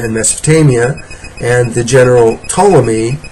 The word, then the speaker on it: Ptolemy: Mesopotamia and the general Ptolemy that's spelled with a p at the beginning a silent P General Ptolemy who was